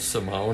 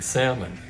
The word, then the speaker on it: Salmon: And I should throw out a thanks to Kenyon Gray for correcting me on the pronunciation of Simone. I've been saying salmon.